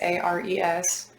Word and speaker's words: Ares: It's Ares. I've been saying it like Aries.